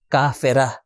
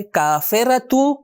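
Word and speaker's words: كافرة: کافرہ۔ دیکھیں یہ 2 نقطے والی تا جب ہم یہاں پر رکیں گے تو اس کا تلفظ بن جائے گا ہا، کافرہ۔ لیکن اگر اس کو جوڑ دے کسی چیز سے، مثال کے طور آپ کہنا چاہتے ہیں کہ مکہ کی کافرہ، تو آپ کہیں کافرۃ مکہ۔ جب ایڈ کر دیں گے کسی چیز کو تو تا کا تلفظ ہوگا، اگر کوئی چیز ایڈ نہ کرے تو ہا کا تلفظ ہوگا۔ تو کافر یعنی مرد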